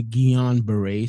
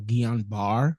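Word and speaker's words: Guillain-Barré: you had battle with gulam bear syndrome and I hope I'm pronouncing it correctly it's a strange it's a strange uh word it's actually gon Beret syndrome or gon bar syndrome but you know what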